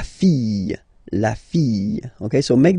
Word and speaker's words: fille: And then the feminine form, the daughter, la fille. Yeah, yeah, yeah, yeah, yeah. Okay, so this LL here and E will give you the sound Y, la fille, la fille.